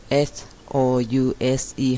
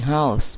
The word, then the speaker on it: house: ค่ ะ house บ้ า น ค่ ะ h o u s e house บ้ า น o u อ อ ก